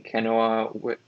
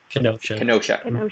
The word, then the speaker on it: Kenosha: ryan said there was a shooting yesterday in kanoa i believe it's kanoa that's how you pronounce it who's correct me kenosha yes in kenosha wisconsin there it appears the